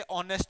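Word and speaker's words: honest: इसमें एक चीज का ध्यान रखना, जब इसमें एन तभी भी आएगा जब एच आएगा, मतलब एच किसी में साइलेंट होता है ना कई बार, जैसे ऑनेस्ट होता है, एन ऑनेस्ट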